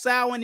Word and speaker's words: Samhain: Pronounced Samhain is a Wiccan holiday.